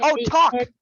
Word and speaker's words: talk: That one, okay, there's no L sound in that one. That sounds like you're saying talk. Talk. Talk. There's a lot of words that we have silent letters. And in that case, it's an L.